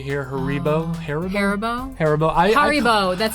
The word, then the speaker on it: Haribo: Haribo.